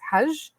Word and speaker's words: Hage: But in, like, I guess in Arabic, or the name that it should be pronounced as in the original is Haj. So, like, he's Michael Haj. So that is the correct pronunciation.